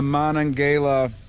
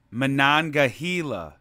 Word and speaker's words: Monongahela: light here in the monongala national forest it's pronounced monongahela time to turn on